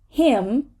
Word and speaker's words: hymn: damnation again it became part of the next syllable so we're gonna say it him him but a hymnist right a hymnist so